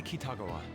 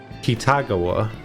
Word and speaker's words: Kitagawa: I feel like the emphasis is on the wrong letter there. I feel like the emphasis should be on the second A, not the first one. Kitagawa. I feel like it should be Kitagawa. I might be wrong though.